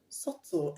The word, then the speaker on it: subtle: of sort of s-u-b-t-l-e-satsu do not pronounce the b though the b is not at the end of the word just for your information so the word is sort so and non-subtle subtle and non-subtle i hope